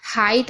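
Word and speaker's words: height: तो यह देखिए हाइट हो गया ना सिंपल सा एच को हा पढ़ रहे हैं और इ आई को मैंने आपको बताया आई पढ़ रहे हैं।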